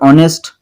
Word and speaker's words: honest: That the words or honest umbrella begin with vowel sound as the initial consonant h is not pronounced।